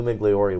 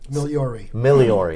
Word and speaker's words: Migliori: Joining me today in studio is Migliori with LGM and Associates, and I said it wrong again. I am so sorry. Migliori. That's okay. The G is silent.